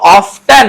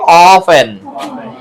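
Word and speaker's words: often: ও এফটিই এন অফট কিন্তু এটা কি অফটেন নাকি অফেন এখানে টিটা আছে কিন্তু কি বলা হয় এটার জন্য বলা হয় যে অফেন উচ্চারণে টি উজ্য থাকে উজ মানে আছে কিন্তু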